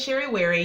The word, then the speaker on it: Sherry Wary: So my name is Sherry Wary. Yes, it rhymes.